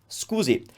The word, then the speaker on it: scusi: exaggerating a little but if i were to say that naturally excuse it scusi but if you want to break down that scoozy scoozy it's all about the u and the e sadover so that wave